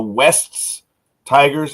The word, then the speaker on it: Wests Tigers: The Wests Tigers, and I pronounce it because it's Wests.